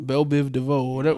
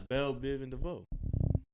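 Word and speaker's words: Bell Biv DeVoe: don't care bro you just rap about who Bill Biv DeVoe what's his name I don't even know who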